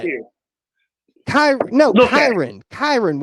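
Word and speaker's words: Kyren: Kerwin, like a Kermit the No, the fuck Kermit it's Frog not. here. Look at Kyron. Kyron Williams, not Kerwin.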